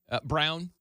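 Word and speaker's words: Braun: have guys Christian braa Brown that always screws me up the way well spelled like Brun spelled like Brun but it's brown um he's a starter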